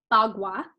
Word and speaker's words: Bagua: So it's pronounced Bagua, and this is the main tool used in Feng Shui.